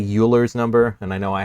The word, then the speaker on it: Euler: And you might be tempted to say Euler's number, and I know I have before too, but the proper way to say this, it sounds like Euler.